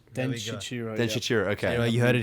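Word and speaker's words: Denshichirō: I want to go to a tangent about Den Shichiro, as per Stanley's official pronunciation.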